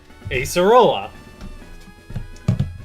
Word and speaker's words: Acerola: Acerola.